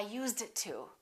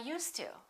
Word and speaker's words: used to: and when people speak they never say I used it to I used it to they say I used to I used to I used to work I used to smoke in fact it really doesn't sound like a d ever so sometimes when Americans